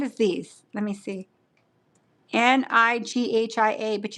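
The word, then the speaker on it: Nghia: Nighia, but you don't pronounce the N.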